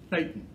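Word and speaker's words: thetan: the first term is the term satan not satan satan t-h-e-t-a-n got to be careful how you say it t-h-e-t-a-n satan is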